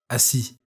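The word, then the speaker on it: assis: the word is sit which in french is asi this word pronounced more slowly sounds like a si again the word is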